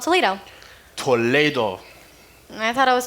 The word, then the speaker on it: Toledo: Well, in Castilian Spanish, you pronounce different than English.